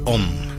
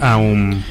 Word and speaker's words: Om: la contracción, es el Om como tal. Claro, pero se debe pronunciar Aum. En realidad, se pueden pronunciar de las dos en realidad, pero sí es más completo hacer como el Aum, porque eso te permite